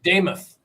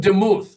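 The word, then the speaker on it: Demuth: Damoth. Looks like Damuth, but it's Damoth.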